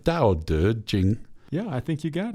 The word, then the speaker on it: Tao Te Ching: Tao Te Ching.